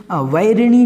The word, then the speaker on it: वैरिणि: तो सबसे पहले वैरिणी जो है उसको आप ध्यान रखें। वैरिणी जो है इसमें आपको वही बोलना है, वाह, इसको बा नहीं बोलना।